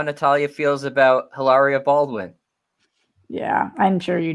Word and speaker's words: Hilaria: And actually, it's not Hilaria Baldwin; it's Hilaria.